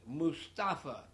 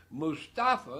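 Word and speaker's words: Moustafa: But I want you to pray for Mustafa, M-O-U-S-T-A-F-A, Mustafa. His last name is E-I-D, and I don't have the slightest idea how to pronounce that. Mustafa is pretty clear, M-O-U-S-T-A-F-A, Mustafa.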